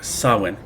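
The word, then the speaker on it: Samhain: is largely rooted in the Celtic sawen why it's spelled that way I have no idea it drives me nuts but the ancient Celts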